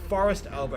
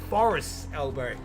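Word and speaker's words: Forrest's Elbow: so on the weekend they did pronounce it as forest elbow it is actually forest's elbow which was quite annoying every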